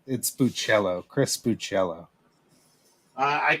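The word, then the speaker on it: Bachalo: I got the one that Chris Boccolo drew. Nice. I think it's not to. My buddy Marco Galli was friends with Chris for years and years, and I think it's Buccello.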